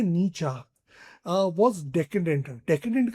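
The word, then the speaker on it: Nietzsche: सो अब इसमें मॉडर्न बुरजा सोसाइटी सेड नीचा वाज़ डेकेटेंट एंड एनफीबर्ल्ड इनकी प्रोन्सिएशन ये बहुत बड़े साइकोलॉजिस्ट रहे हैं। इनकी काफी सारी थ्योरीज़ हैं। राइट इसको प्रोनाउंस करा जाता है नीचा वास डेडेंट डिकेंडेंट का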